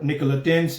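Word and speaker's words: Nicolaitan: अजीजों जो लफ्ज है ये निकोलेटन्स और निकोलेटेंस भी कहते हैं इसे, लेकिन एक्चुअल प्रोनाउंसिएशन निकोलेटन है।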